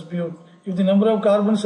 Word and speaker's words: but: B-U-T, but it is pronounced as bute.